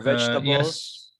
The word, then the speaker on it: vegetable: Okay, so this sounds just one sound. Vegetables. Vegetable. Okay, right. Vegetable. Yeah. Do you see? It's just one. Vegetable. You can see it's Vegetable. vegetable. So it's just one, three syllables.